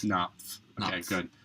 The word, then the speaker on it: Knopf: So hopefully this man, Wyatt Knopf, how do you pronounce it? Knopf. Okay, good. Knopf.